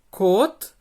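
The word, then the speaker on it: 꽃: vai estar em patim, por isso que ele tem esse som de T seco no final.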